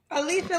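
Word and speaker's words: Elisha: Alisa like Alicia Keys. Um yeah, but I spell it with an E. E L I S H A.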